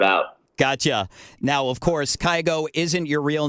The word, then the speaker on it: Kygo: I guess it's just like the Norwegian pronunciation would be Kygo.